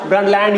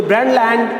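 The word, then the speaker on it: Brundtland: ru and D T here T is silent brand land you can say the brand land under the supervision of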